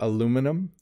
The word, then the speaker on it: aluminum: I say aluminum. Americans say aluminum.